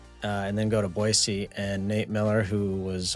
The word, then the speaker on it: Boise: It First of all, it is pronounced Boisey. Boisey.